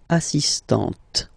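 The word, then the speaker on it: assistante: You don't really insist on the but you insist quite much on the T. So don't pronounce the final T here but for the feminine form assistant.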